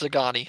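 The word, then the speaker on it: Szgany: It's Zagani. I think the S is silent.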